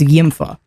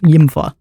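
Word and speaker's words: Ymfah: straight up watching is Yimpfa. I'm not sure if you're even supposed to pronounce that username, but it is Y Mf ah Yimpfa.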